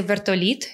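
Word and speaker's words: вертоліт: And we would say vertolit instead of vertolyot, right?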